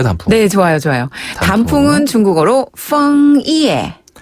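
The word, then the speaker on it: 枫叶: 이에 펑 이에라고 하는데요 펑 이에 할 때 펑 짜는 약간 아랫 입술에 윗니를 살짝 대고서 응 그렇죠 F 발음 펑 그렇죠 이에는 영어 발음에서 예 할 때 그 예예 아웃네 또 나왔어요 우리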